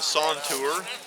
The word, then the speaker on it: santur: this instrument is called the sawn tour that's spelled s-a-n-t s-a-n-t-u-r and uh it's a very